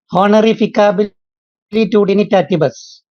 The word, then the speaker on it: Honorificabilitudinitatis: I'm not able to pronounce it. Honorificabilitudinitatis.